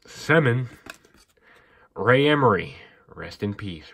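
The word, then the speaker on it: Semin: Manny Malhotra Eric Brewer Alexander some that's how you say it semmen Ray Emery rest in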